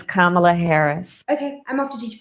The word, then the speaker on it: Kamala: don't be that person it's kamla Harris it's kind of like Kama plus La it's not pamelo with the K and it's not Tony Soprano's wife hi everyone it's kamla Harris okay I'm off to